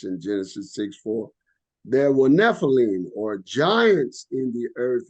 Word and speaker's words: Nephilim: means the Fallen ones which in Hebrew is pronounced Nephilim where it states in Genesis 64 there were Nephilim or Giants in the earth in those days